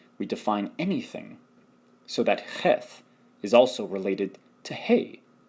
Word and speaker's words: Cheth: Cheth, CH and H as in help, value 8, is pronounced cheth.